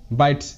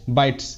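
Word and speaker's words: bites: প্রত্যেকটি ওয়ার্ডে কনসোনেন্ট আছে, তাই এখানে ই এর পর এসের উচ্চারণ বর্গীয় জয়ের মতো না হয়ে শয়ের মতো হবে, Hopes, Hopes. বাইটস, বি আই টি এস, বাইটস, বাইটস।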